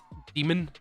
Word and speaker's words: Daemon: It's to do with religion and the religious iconography behind the name Daemon. It's because Daemon is pronounced demon normally.